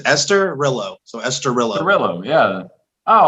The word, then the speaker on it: Esturilho: it or say it escarillo that was worse uh the way i tell people to say is esther rello so esterilla gorilla yeah